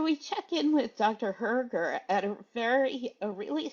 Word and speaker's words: Hoerger: to in inform the community um so Dr Herer uh do you do you want me to call you Dr Herer do you want you can call me